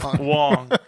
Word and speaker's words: Wong: but uh okay so Wang or Wong is it Wang or Wong Wong rhymes with dong Wong dong Wong okay